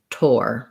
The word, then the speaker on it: tour: who ask about this some people say tour the same as tor so that is one way you can say it i say to which sounds more like